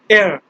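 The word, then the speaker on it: hier: So yesterday, air, air. Like air, you don't have to pronounce air, just air, like air, air.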